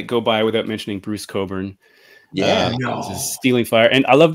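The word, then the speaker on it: Cockburn: couldn't let it go by without mentioning Bruce Coburn stealing fire and I love this hype sticker it it tells you how to pronounce it so don't pronounce it C CK Coburn uh and I mean I read I read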